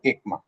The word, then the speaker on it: ECMA: In short we say we pronounce it as ama.